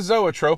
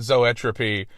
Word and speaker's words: zoetrope: It was supposed to be still like a zoetrope. I'm spinning animatedly. But when it came time to record the lyric, the actual pronunciation, completely left my brain, and I pronounced it zoetropy.